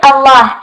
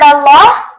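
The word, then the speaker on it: الله: the word Allah excellent the word Allah lot is pronounced heavy when there's a or D before it true or false the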